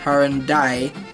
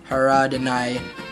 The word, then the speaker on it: Haradinaj: Haradinaj. It's spelled Haradinaj, and I think the J in like the Balkans are pronounced as kind of like a Y.